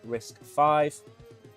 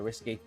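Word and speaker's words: RISC-V: Adopting risk v pronounced risk five. I prefer risky uh an open- source processing architecture com uh compatible to its propriety competitors like ARM and x86.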